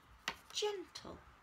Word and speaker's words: gentle: I will write the word gentle. Gentle. As after the g, it's an e, we use the soft j for j, j, gentle.